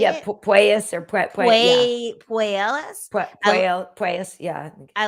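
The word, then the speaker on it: Puelles: Puelas or Puelas?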